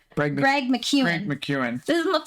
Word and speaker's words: Greg McKeown: And it's also this quote that we pulled from the book Essentialism by, how do you pronounce the author's name? Greg McKeown.